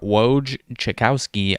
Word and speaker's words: Wojciechowski: I believe that's very similar to Adrian Wojnarowski, so I guess it's not totally the same.